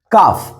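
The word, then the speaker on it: ق: உடைய அக்கா மையம் உச்சரிக்கான் அதை எப்படி உச்சரிக்கணும்னா காப் காப் காஃப் காஃப் காஃப் காஃப் காஃப் இக் கா இந்த கைனுக்கு வர கைனுக்கு வரக்கூடிய அந்த ஒளியும் வரக்கூடாது காஃபுக்கு வரக்கூடிய அந்த ஒளியும் வரக்கூடாது இது ரெண்டுக்கும் நடுவுல உட்கார்ந்து ஒரு ஒளி வரணும் காஃப் அவ்வளவுதான் காப் காஃப்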